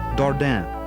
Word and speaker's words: Dardenne: french canadian trapper toussaint dardan who hunted the area as early as 1747. the english in characteristic fashion butchered the french darda reducing it by swallowing the sound to darden or darden in 1769 louis blanchette